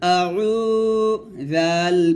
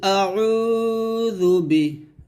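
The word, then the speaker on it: أَعُوذُ: ওয়াও পেশ উরকম কুল আউ জাল পেশ জু কুল আউজু আউজু এখন আমরা আইনের উচ্চারণটা ভুল পড়ি তো আইনের উচ্চারণটা কিন্তু এখানে ভুল পড়া যাবে না আইনের উচ্চারণ বলবেন কুল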